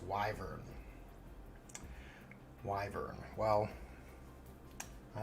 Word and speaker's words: wyvern: Theo says it's pronounced wyvern.